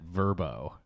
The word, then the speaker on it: VRBO: You're supposed to pronounce that Verbo.